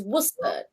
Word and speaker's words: Worcester: a second model what's the sauce though it's worcester you see americans how do you say it yeah it's not like that it's pronounced worcester sauce okay just so you know